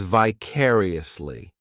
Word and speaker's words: vicariously: This adverb has 5 syllables, and the stress is on that second syllable, vicariously. The third syllable, it's like that letter I just has that E sound, and the fourth syllable has the schwa, vicariously.